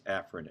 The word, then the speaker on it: afferent: or effort travel down the correct way pronounce it is afferent or efferent let's take a look